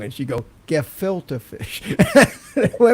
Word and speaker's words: gefilte fish: the end credits and Chris Tucker was trying to say good filter fish if you remember that you have any and he and he couldn't say it he couldn't say it right he'd say good go go for fish and then and then the prompter would go gefilte fish and he do it